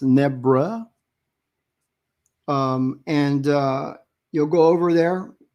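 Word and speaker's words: Nebres: It looks like Nebrez. He's Filipino, but it's pronounced Nebra.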